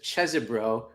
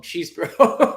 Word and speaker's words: Chesebro: bro yeah well his his lawyer says chzo which means that must be the real pronunciation but you know shout out to the prosecutor who then proceeded to call him cheesebro the prosecutor so uh